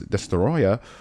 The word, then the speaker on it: Destoroyah: There's so many ways to pronounce his name. Well, I'm going to say it the proper way. Godzilla vs. Destoroyah was released on December 9th, 1995, earning just